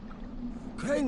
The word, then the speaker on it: Crane: my name is crane crane rhymes with train and brain and say and gray and rain and plane and the other kind